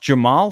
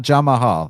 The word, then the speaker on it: Jamahal: just Jamal it's pronounced Jamal straight up Jamal that's how you pronounce it oh jamahal all right not not jamahal no I know it's it's written jamahal but Jamal all right Jamal Hill